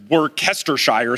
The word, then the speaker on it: Worcestershire: When I had to get Worcestershire sauce, I was in Papado Seafood Kitchen.